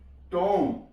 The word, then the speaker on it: tomb: TOMB, टॉम, B silent है यहां पे।